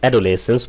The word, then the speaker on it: adolescence: অ্যাডোলেসেন্স বলে অনেকে অ্যাডালেসেন্স বলে। এটা মানে হচ্ছে বয়সন্ধিকাল।